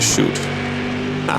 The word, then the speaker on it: chute: No, that's the chute. Chute, I said it wrong.